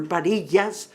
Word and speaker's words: Barillas: But since our director, Lucy Barillas, or Barillas, according to the president, the correct pronunciation, as she mentioned, we're